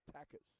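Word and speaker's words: Takacs: T-A-K-A-C-S, pronounced Takis.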